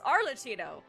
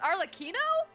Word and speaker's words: Arlecchino: like the spelling yeah you pronounce like arino because it's Italian but when you say cappuccino it's cappuccino so that's why I thought it was arcino but it's arino I'm rather enjoying the